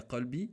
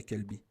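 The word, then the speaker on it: قلبي: L'arabe, c'est très très important parce que juste le fait de pas bien prononcer, comme vous voyez dans l'exemple, ya qalbi, c'est pas comme ya kelbi.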